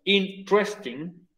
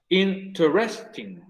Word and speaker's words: interesting: Lo puedes pronunciar como con 3 sílabas, interesting, o con 4 sílabas, interesting.